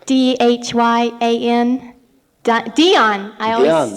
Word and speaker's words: Dhyan: I was wondering about Dhyan, and I was just wondering if you see